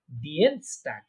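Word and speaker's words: Dienstag: ডিয়েনস্টাগ। ডিয়েনস্টাগ। হ্যাঁ, কারণ দেখেন আই আগে ই পরে, তাহলে ডিএনস, আই আগে ই পড়া থাকলে কি বলছি? ইয়ে, ইয়ে উচ্চারণ, তাই না?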